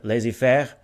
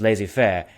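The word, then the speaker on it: laissez-faire: in economics people use the french word laissez faire i'm trying to pronounce it lazy fair to represent the economic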